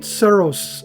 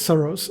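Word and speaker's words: souris: Le petit soros. I think I said said it right. I don't know. Seros. I think it's soros.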